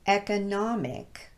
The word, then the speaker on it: economic: syllable so economy however if we change the ending of this word to the suffix ick it's now pronounced economic with the short e sound at the beginning the stress pattern changed because of that suffix